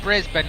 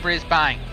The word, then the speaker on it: Brisbane: And it's pronounced Brisbane, not Brisbane.